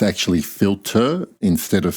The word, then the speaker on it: Philtre: when I Googled how this perfume should be pronounced it's actually filter instead of filter like me trying to be a fancy french- speaking person it is actually filter and I stand to be corrected by Haram